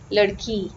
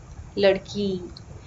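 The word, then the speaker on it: लड़की: Example, the word for girl in Hindi is ladki, ladki. So you hear the E ending.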